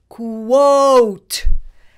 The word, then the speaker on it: quote: rest of the word this is a silent E rule word so the O vowel is a long vowel quot you do it quot you do it quote that sound spelled Q